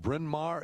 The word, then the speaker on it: Bryn Mawr: uh i think he grew up is it bryn mawr is that how you pronounce that friend yeah yeah pennsylvania and uh